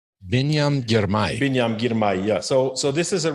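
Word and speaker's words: Biniam Girmay: Help me with the pronunciation. Binyam Girmay. Binyam Girmay.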